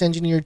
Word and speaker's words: engineered: As per a study published in Science, milling these engineered trees... Oh, pronounce the G. Oh, all right. Thank you, Kira OC. I thought it was a silent G.